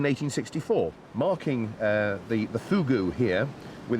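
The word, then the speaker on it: fogou: it is no no fugu i know it's it's spelt f-o-g-o-u but it's pronounced fugu oh really it's all to do with the pursing of the lips they tell me and is this a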